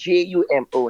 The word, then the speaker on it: Jumo: and it's JUMO, not JOMO, Mm-hmm.